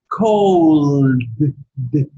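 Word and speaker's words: called: So if the verb ends in l, so you have to pronounce it like cold. Cold. Cold. Cold. Sounds like cold, frío. Yeah. Actually, yes. Actually, I think cold in past and cold as a noun, as a verb, is an homophone.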